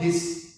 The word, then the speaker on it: His: सर हमने कहीं तो भी पढ़ा था कि बंडल ऑफ हिस, जिसको बंडल ऑफ HIS भी बोलते हैं, और उसको जनरली हम प्रोनाउंस हिस करते हैं, ऐसा भी कोई स्ट्रक्चर है।